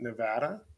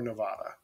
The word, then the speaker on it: Nevada: twice over, is it Nevada or Nevada? It's Nevada, and if you say Nevada, you're a fucking idiot, and say it right.